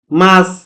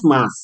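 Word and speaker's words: ます: না এটা কিন্তু আবার ইস না যেমন তারপরে মাস অর্থাৎ ভার্বের শেষে যদি সু থাকে ভার্বের শেষে সু থাকলে ওটার এর উচ্চারণ হয় না অর্থাৎ সুনা ভার্বের শেষে যদি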